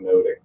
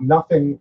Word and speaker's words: nothing: about the fact that in Shakespeare's time the title of the play would have been pronounced and received as much ado about noting noting not nothing wasn't announced as nothing even though nothing was